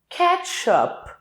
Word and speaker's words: ketchup: Ketchup. Perceba que não é ketchup. Não. O P é o que termina a palavra.